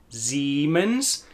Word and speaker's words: Siemens: I-E says E, E-I says I. That's why the I-E in Siemens says E, Siemens, and the E-I in Sennheiser is the I sound, Sennheiser, Sennheiser.